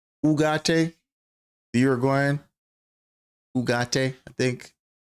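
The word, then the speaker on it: Ugarte: Ugate. That's how you pronounce his name. Ugate.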